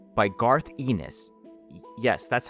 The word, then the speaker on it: Garth Ennis: The Boys is an adaptation of the comic book of the same name by Garth Ennis. Yes, that's how you pronounce his name, don't look it up.